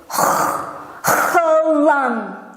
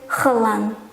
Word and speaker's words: eiland: Of course, I will try to pronounce it the best I can do, which is Eiland.